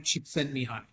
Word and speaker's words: Csikszentmihalyi: While if I showed you his name, you wouldn't be able to pronounce it. It's Mihai Csikszentmihalyi is his name.